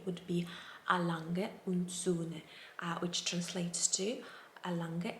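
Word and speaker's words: A. Lange: a german watch company and the way to pronounce it correctly would be a lange which translates to a lange and sons and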